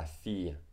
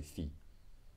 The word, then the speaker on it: fille: La fille, with the I-L-L pronounced like the Spanish y, la fille. Even though most people would say fille.